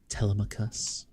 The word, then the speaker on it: Telemachus: It's pronounced Telemachus.